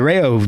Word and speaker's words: Rayo: Because they told me they were going out to gigs, and it's spelled like REUX or something like that, but it's pronounced Rayo.